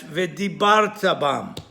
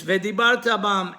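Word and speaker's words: וְדִבַּרְתָּ בָּם: In the Kriyat Shema, as another example, many make the mistake of pronouncing the word v'dibarta bam, which it should be pronounced on the last syllable, because the vav is a vav hibur.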